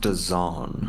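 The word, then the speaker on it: DAZN: I think I saw there's a boxing event tomorrow night on what do you pronounce that d a zn den daen I I it's pronounced don don yeah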